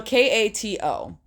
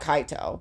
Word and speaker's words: Kato: no yes but no I believe the artist's name pronunciation is Kato so k a t o so I believe it's Kato or it's not kaato but I think it's Kato um they designed this